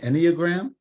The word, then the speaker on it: Enneagram: um Buddhism and the any any am I pronouncing that right Enneagram yeah perfect okay so what you know I